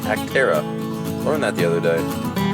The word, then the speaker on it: Acterra: anybody else was wondering like me this is pronounced actera learned that the other day so i'm